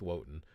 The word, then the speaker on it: Wotan: It's interesting, but yeah, that's not the case with Wotan. Apparently, they would still pronounce the W, which I thought is interesting.